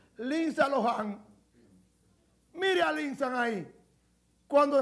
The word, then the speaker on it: Lindsay Lohan: Así es que se pronuncia. Lindsay Lohan.